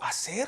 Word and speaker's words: hacer: Like, oh my, oh, hacer has an H in front of it? What? That's weird. What? Oh, okay, so the H is silent.